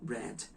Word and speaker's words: read: Assim como read, que se escreve e da mesma forma, só que a pronúncia do presente é read e no passado é read.